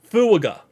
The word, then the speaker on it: Fuaga: his name correctly because there's 3 syllables in his name. So I'm going to go ahead and make sure I say this name actually correctly. Shout out to Dapple Dandy. Fuaga.